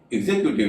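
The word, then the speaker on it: executive: चीज देखी होगी कि एक्सीक्यूट में तो एक्स का उच्चारण स हो रहा है लेकिन एग्जीक्यूटिव में एक्स का उच्चारण ज हो रहा है। एक्सीक्यूट से ही एग्जीक्यूटिव बनता है लेकिन दोनों में एक्स का उच्चारण अलग अलग हो रहा है।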